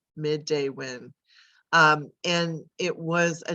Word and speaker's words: Midewin: what is the name first of all it's pronounced midday when midday when um and it was a name that was